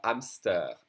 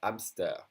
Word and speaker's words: hamster: H, which is mostly silent in French, as in un hamster, un hamster.